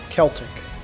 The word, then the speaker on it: Celtic: Celtic. That's how it's pronounced.